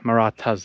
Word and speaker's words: Marathas: It's spelt M-A-R-A-T-H. So it's like Marathas, but Marathas, that's how you say it.